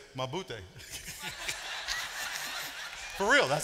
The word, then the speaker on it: mabuti: And if you say I'm doing fine, you say mabuti.